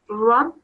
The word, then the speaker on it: رب: So here again, try to pronounce the word Rabb with a heavier mouth.